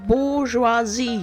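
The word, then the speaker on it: bourgeoisie: It's pronounced bouroisi. You The bourgeoisi.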